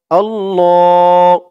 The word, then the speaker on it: আল্লাহু: আল্লাহ। ল এক আলিফ টান। আল্লাহ। অনেকে বলে আল্লাহ। আল্লাহ বললে আল্লাহ শব্দের উচ্চারণটা সঠিক হয় না। আল্লাহ শব্দের উচ্চারণ হচ্ছে আল্লাহু। আল্লাহু।